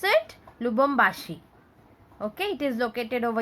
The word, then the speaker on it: Lubumbashi: And how will you pronounce it? Lubumbashi.